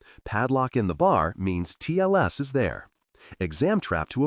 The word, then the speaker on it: TLS: Pronounce TLS crisp on each letter.